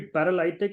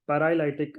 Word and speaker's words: paralytic: for example you know it should be paralytic not not partic uh so the the